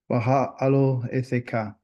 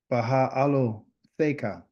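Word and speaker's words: Beha'alotecha: Baha'alotcha. It's a long word. Baha'alotcha. I transliterated it so we'd have an idea on how to say it. Baha'alotcha.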